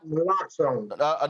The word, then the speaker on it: naloxone: overdose prevention through the distribution of, I guess, naloxone, is that how it's pronounced? Naloxone.